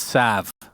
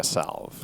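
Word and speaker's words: salve: that isn't the Tango a salv yeah it's Sav no so we're going to start pronouncing it Sav because it's the technical correct way to say it I'm sure you can also say a salv okay what about AIS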